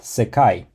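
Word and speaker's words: せかい: The word for world is pronounced sekai, and it's made out of 3 characters.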